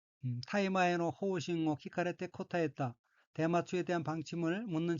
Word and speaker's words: 聞かれて: 방침이고 각기 모방, 바늘 침자로 되어 있고 일본어로는 호우싱이라고 읽으며 호우싱은 방침이란 뜻입니다. 넷째 줄 세 번째 어휘는 한자가 들을 문자가 들어있고 일본어로는 키카레테라고 읽으며 키카레테는 듣다는 뜻의 타동사 키쿠의 수동형 키카레루